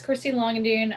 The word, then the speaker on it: Christy Langendoen: of them to introduce themselves so i don't mispronounce anything and uh christy let's start with you yeah so my name's christy longandune i'm based out of austin texas and in